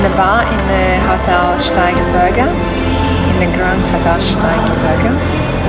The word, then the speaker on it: Steigenberger: That's how you pronounce it, Steigenberger.